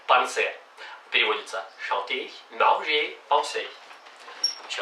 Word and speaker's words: penser: не было manger, chanter, penser. Переводится chanter, manger, penser. Еще раз разница. Manger, penser, chanter. Там нет никаких «н».